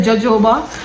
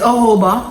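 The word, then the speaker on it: jojoba: You know, some people say joa, but it's Hoba. Hoba oil. Um, I think that's how you pronounce.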